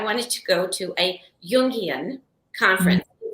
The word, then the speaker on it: Jungian: So a friend of mine asked if I wanted to go to a Jungian conference. It's like J with a Y is how it's pronounced.